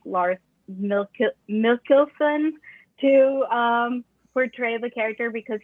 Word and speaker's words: Mikkelsen: Lars Mikkelsen as Thrawn. I want to say Milkinson, but it's not Milkinson.